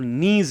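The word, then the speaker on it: gneiss: Slate, नीज, पत्रित चट्टानों में होगी स्लेट, नीज, अंग्रेजी में इसको ग्नीज लिखा जाता है, पर जी साइलेंट रहता है इसलिए इसको नीज लिखा जाता है, नीज।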